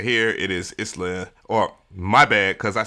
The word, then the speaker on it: Isla: It is Isla, or my bad, because I said their name wrong in the video that I just did, along with some other things I'm going to correct.